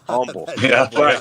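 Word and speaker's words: Humble: walking so oh goodness over here we pronounce it Umble Umble that's right I got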